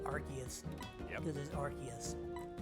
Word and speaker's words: Arceus: is faster than this oh i should say arceus this is arceus and for those that disagree well sorry it's arceus anyway now arceus that's always been the biggest